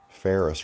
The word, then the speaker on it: Ferris: Ferris, remember, F-E-R-R-I-S. They just changed the way it's spelled.